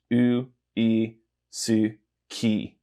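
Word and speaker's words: ウイスキー: So this is u, I, su, ki. And then this just says that ki is longer. So say it faster and it's uisuki. Okay.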